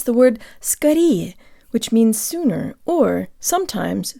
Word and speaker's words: скорее: to pronounce the word Scotty which means sooner or sometimes soon as in the phrase but put of lysis Katie or get-well-soon tell your brain the O represents a schwa sound and use good default